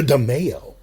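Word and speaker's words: DiMeo: the demayo crime family the demayo i believe that's how you pronounce it but it's uh so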